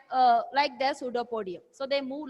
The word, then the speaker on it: pseudopodium: that is known as pseudopodium. What is that? Pseudopodium. Pseudopodium, and the plural is pseudopodia. Okay. So even like esophagus, here P is silent, but when you write, you should write the correct spelling.